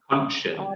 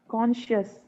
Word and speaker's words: conscience: Conscience. Morals, This word is principles. conscience. Can you say that again? What, sir? The last word there, just the pronunciation. This is conscience. Conscious, Conscience.